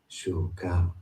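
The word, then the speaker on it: ψυχή: In Greek, it is said as shuka, shuka, Shuka. shuka. Shuka. Shuka. Shuka.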